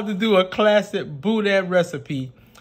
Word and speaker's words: Boudin: It's Boudin. B-O-U-D-I-N. Boudin. B-O-U, boo. So just say boo. B-O-O, boo. Dan.